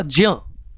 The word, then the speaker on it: ज्ञ: इसी प्रकार त्र, त प्लस र, ज्ञ, इसको ज्ञ पढ़ते हैं, बट इसका सही उच्चारण होगा ज्ञ, तो ज और य, ज्ञ।